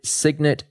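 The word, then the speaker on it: Cygnet: proprietary trading firm with a few partners called Signet Trading, which is spelled CY G NE T.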